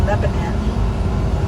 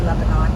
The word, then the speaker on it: Lebanon: It's supposed to be Lebanon, Tennessee, but I say Lebanon because that's the way it's spelled. N O N is the last three letters of Lebanon. I know the southern people call it Lebanon, but anyway, it's no big deal to me.